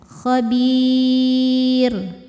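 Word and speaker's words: خبير: Khabir ro sukun ya. Ro disukunkan kalau berhenti ya. Dibacanya tarqiq. Kenapa tarqiq? Karena sebelum ro disukunkan ada ya sukun, maka sudah tidak perlu lihat huruf bnya. Kalau sebelumnya ya sukun tipis rnya khabir.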